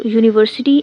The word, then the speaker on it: university: Use a before university and union. It starts with y sound.